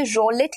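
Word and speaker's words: roulette: इसे रोलिट की तरह प्रोनाउंस किया जाता है और स्पेल ऐसे किया जाता है.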